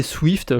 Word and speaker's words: SWFT: Alors moi j'ai tendance à le prononcer Swift, je rajoute un i au milieu parce que je trouve ça plus simple.